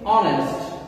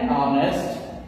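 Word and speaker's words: honest: তো এখানে আমরা বলছি অনেস্ট এইচ ও এন এস টি যদিও শুরু হয়েছে এইচ দ্বারা কিন্তু উচ্চারণ হচ্ছে ও দ্বারা এন অনেস্ট এন আওয়ার এর পরবর্তীতে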